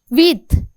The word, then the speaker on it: huit: And huit. H is silent and as it is a first letter H, so we will make it silent, then it will become huit.